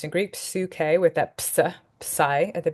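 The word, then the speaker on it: ψυχή: how that works now here's our next word psuk is how this would be pronounced in Greek psuk with that Pai at the beginning a feminine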